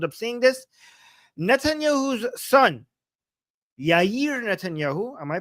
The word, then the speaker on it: Yair: Netanyahu's son Yer Netanyahu. Am I pronouncing his name right?